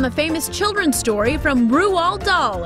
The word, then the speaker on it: Roald Dahl: This 2009 stop-motion animated movie was based on the famous children's story from Roald Dahl, and yes, that is how you say the iconic author's name.